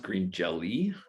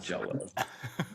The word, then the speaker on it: Green Jelly: actually pronounced green jelly that's not jello the trademark lawyers are